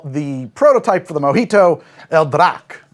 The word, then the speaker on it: El Draque: And we're going to start with a drink that they call the prototype for the Mojito, El Draque. Or maybe you do pronounce that El Drake, which means the dragon,